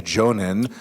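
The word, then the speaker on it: Jōnin: and also that the highest level, the Jonin, rhymes with Ronin, which you mentioned earlier, like lots of Onins.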